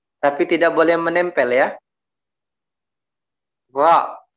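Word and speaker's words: ر: Ra, gitu ya, bacanya ra, tidak boleh bacanya wa, ya, dinempelkan, enggak, ya, di apa namanya, dingambangkan ra-nya ini, ya.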